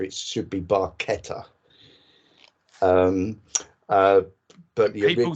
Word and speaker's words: barchetta: Italian Friend of Getty Lee said it's not pronounced by cheddar it should be barchetta um uh but yeah people do get very